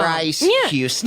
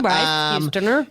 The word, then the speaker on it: Bryce Houston: You already said his name wrong. Yeah, his name's Bryce Houston. You could just simply hear me say that and keep that in your brain.